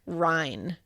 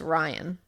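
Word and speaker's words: Rhine: The officer's name was Officer Mike Ry. Oh wow. And people and he said people all the time it's spelled R H I N E. He said people always think it's Ryan.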